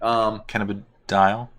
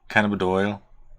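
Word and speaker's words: cannabidiol: Cannabidol. You didn't say it right either. You said dial. Doyle. It's DIOL. Cannabidol.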